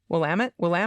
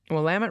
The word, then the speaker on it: Willamette: Willamette It River. rhymes with damn it. Yep, It rhymes with damn it. Willamette River.